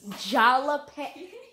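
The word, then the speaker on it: jalapeño: jalapenos yeah with jalapeno jalapeno oh that is this product yay no it's jalapeno the j is silent and you said it perfect and um say jalapeno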